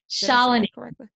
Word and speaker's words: Shalini: Shalini. Shalini, yeah. Shalini. Oh, so I got the first name wrong.